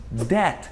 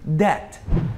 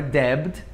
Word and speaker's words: debt: Muito menos debt, que é dívida. Debt, não é debt, é debt.